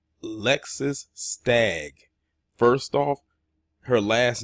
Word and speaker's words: Lexus: Her first name is actually Lexus, like the car.